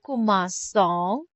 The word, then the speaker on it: commençons: Je commence, tu commences, il commence, elle commence, on commence, nous commençons. Si se dit, to keep the soft C.